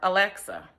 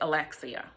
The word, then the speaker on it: Alexia: was endearing of course she would always correct me when it came to the pronunciation of her name I would call her Alexa she would laugh and say miss Stevens my name is Alexia I continue to do